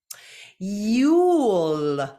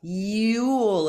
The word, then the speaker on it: you'll: a contraction for I am I'm I'm you'll you'll a contraction for you will so again find